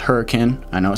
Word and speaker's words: Hurricane: ivan's you've got hurricane up here it is pronounced hurricane i know it says hurricane but it's pronounced hurricane so this is the